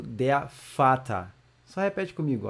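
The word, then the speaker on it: Vater: galera o primeiro integrante vai ser o de fata só Repete comigo ó de fata como é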